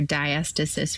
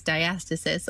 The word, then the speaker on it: diastasis: pregnancy and postpartum where diastasis recti that you mentioned and you totally said it right it's diastasis or diastasis it doesn't really matter um and that